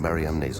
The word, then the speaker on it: Mariamne: Magdalene was an apostle, then the unique alias Mara on Mariamne's ossuary could be pointing to something extraordinary.